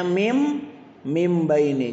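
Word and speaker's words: مِنْ بَيْنِ: nih tulisannya minbaini dibacanya mim mim baini jadi ini bentuk penulisannya ini cara membaca ditulisnya minbaini dibacanya mim mim baini nun sukun dirubah menjadi huruf M nun sukun ditukar menjadi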